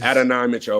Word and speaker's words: Adonai Mitchell: Mitchell ad I um Adonai Mitchell is Adan Mitchell okay ad Mitchell that's how people pronounce it ad um with Adan